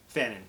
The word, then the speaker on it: fanon: Fanon, it's clever because it rhymes.